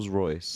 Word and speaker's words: Rolls-Royce: hey yes what is sorry I apologize roll rollsroyce yeah you saw more of those and not